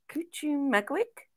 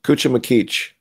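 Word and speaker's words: Cuchumaquic: Um, the unlikely piece at Cuchum Magwick. Close. Cuchum Makich.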